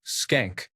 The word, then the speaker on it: Schenk: To make it a bit hilarious, her last name was Schenk, which is pronounced as skank.